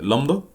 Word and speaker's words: لامدا: اللي هي دي بتتنطق لامدا، اسمها ايه؟ لامدا.